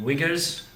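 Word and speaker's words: Uyghur: Shing Jang separatist guys are called wiggers I know it sounds weird but it's spelled UI g h u r or something there it's the wigger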